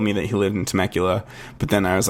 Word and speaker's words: Temecula: away from me now, in this place called Temecula. Though I pronounced it the first time I pronounced it, I was like Temecula.